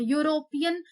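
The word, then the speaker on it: European: ये सब वाई से स्टार्ट हो रहे हैं, यूरोपियन ई से स्टार्ट हो रहा है, सिर्फ देखने में स्पेलिंग स्टार्ट हो रही ई से, ये वॉवेल है।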